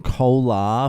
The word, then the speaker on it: Kolar: boil and I'm quitting alcohol so I'm in Cola for this wedding it's spelled k-o-l-a-r if you want to check it